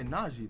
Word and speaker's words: Najee: Yeah, Najee. That's how she pronounced her name.